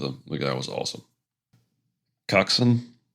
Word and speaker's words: coxswain: Coxin, spelled C O X S W A I N, pronounced Coxson, is an old British naval term, and it's just small boat driver.